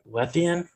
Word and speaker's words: Lethean: great guest on today um schneider with uh lethean did i pronounce that right yeah that's right medium yeah